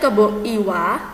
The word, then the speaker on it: Kebo Iwa: Contohnya ini, cerita Kebo Iwa. Ini tulisannya Kebo Iwa, tapi bacanya Kebo Iwa. Karena ini dari Bali.